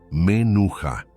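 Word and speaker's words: מנוחה: Pronúncialo conmigo, en voz baja: menuja.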